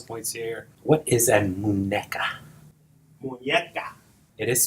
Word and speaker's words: muñeca: What is a muñeca? Muñeca. It is spelled M-U-N-E-C-A.